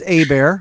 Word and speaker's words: Hebert: In case you're going, well, it's Hebert or Herbert, isn't it? No, my last name's Hebert, like a bear is going to attack me. Kylehebert. It's pronounced Hebert because it's a Louisiana French name.